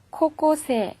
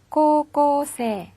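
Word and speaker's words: こうこうせい: 3 고등학생 이라는 뜻이에요 그 역시 발음이 주의 하셔야 되는데요 자금이 3군데 있죠 긴장하지 않으면 요 코 꼬 3 이렇게 짧게 발음하기가 쉽거든요 신경을 쓰자 사요 3 근데 모두 들려서 코오 3 이렇게 발효를 해주세요 자 그러면 여기까지 에서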